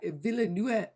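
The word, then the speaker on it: Villeneuve: new one by denny villanue who's it's a beautiful so good but is that how you pronounce that view in the way yeah villanue yeah it's french i want to yeah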